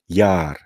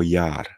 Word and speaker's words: yaar: i tak dalej użyją ale to jest zawsze długie a Jar czy to nie jest Jar tylko Jar prawda Czyli Długa samogłoska Toż co zauważycie to